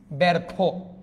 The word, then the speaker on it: ব্যর্থ: এখানে কি লিখেছি ব্যর্থ জফলার পরে যদি অ আ ও অথবা যেকোনো একটা ব্যঞ্জন ধ্বনি থাকলো তাহলে জফলার পর ব্যঞ্জন ধ্বনি আছে তাহলে এটা উচ্চারণটা কিরকম হয়ে যাবে ব্যার থ ব্যারথ কারণ এটা যুক্ত বর্ণ যার কারণে এটা উকারান্ত হচ্ছে ব্যর্থ তাহলে দেখেন তো